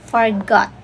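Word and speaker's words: Forgeot: Forgot. Yan yung pronunciation ha.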